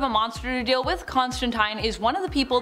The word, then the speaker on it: Constantine: in the comments that I'm saying Constantine wrong I am saying it the way Neil Gaiman says it and he's taking the pronunciation from Alan Moore himself one of the creators of John Constantine so I'm going to say it that way but if you say teen that's cool too say it however you